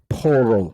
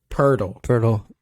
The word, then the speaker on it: Pirtle: Portal. It's Pirtle. Jakob Pirtle. Pirtle like Squirtle.